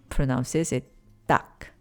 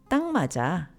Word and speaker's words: 딱: But, when it's followed by a nasal sound like mat in maja, people often pronounce it as tang followed by maja. So, instead of tak maja, you might hear tang maja, tang maja.